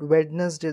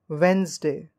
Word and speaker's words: Wednesday: z Dash d-a-y Wednesday we don't call it Wednesday this is the wrong pronunciation we call it Wednesday look at the next word this is c-o-m-f-o-r-t-a-b-l-e